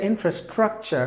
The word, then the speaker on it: infrastructure: So the letter E is silent, so you have to say infrastructure, meaning the basic necessities of something.